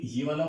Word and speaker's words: vais: Pronunciation में एक और रूल हम डाल सकते हैं, ए आई, ये भी कैसे प्रोनाउंस होगा, ए की तरह। इसके बाद में ए आई एस या कुछ भी हो उससे कोई फर्क नहीं पड़ता क्योंकि वो कॉन्सोनेंट है, तो वो प्रोनाउंस ऑलरेडी नहीं होगा। सो इसको हम प्रोनाउंस करेंगे वे, इट्स नॉट वाइस, पता नहीं।